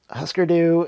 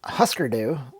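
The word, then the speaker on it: Hüsker Dü: I like to call them Husker Du, but the proper pronunciation based on the umlauts, that's the two little dots above the U's, would imply that it's oo. So Husker Du. I don't like the way that sounds. It makes me feel icky to say Husker Du.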